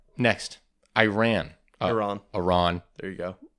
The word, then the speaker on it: Iran: a lot of words yep all right next Iran Iran Iran there you go I'm learning guys I'm learning one of slow but surely one of our first videos I said I ran and obviously it was a great video but